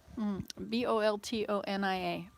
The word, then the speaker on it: Boltonia: me ready a bold b-o-l-t-o-n-i-a okay it is a flowering herb named for james bolton 18th century english botanist italian meat boltonia like bologna bologna oh wait i need